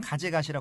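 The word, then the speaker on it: 風頭: 근데 일본 발음으로는 가제가시라 공원이 되겠습니다. 가제가시라.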